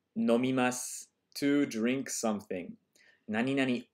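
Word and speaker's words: 何々: Nani nani, this little tilde here is pronounced nani nani, like something.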